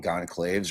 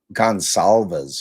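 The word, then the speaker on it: Goncalves: Yeah, I don't call him Gonclaves or Gonzalez. I said it wrong. Gonsalves.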